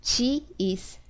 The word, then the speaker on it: ち: either t i or chhi but actually the pronunciation for this CH is more closer when you pronounce Chi CH it's